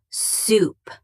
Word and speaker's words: soup: The food you eat is soup pronounced soup like moon.